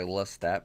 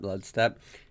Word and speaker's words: Ludstat: I always say Lustat, but nope. All right, Ludstat.